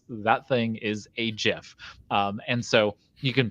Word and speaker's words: GIF: month and so uh he did invent the jiff and uh kudos to him and he will